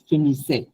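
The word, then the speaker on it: finissent: এটা হচ্ছে আপনার ভু এর জন্য আসবে, ভু ফিনিসে।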